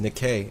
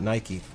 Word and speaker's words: Nike: It's actually pronounced Nikkei and not Nike. Nike's just how Americans say it.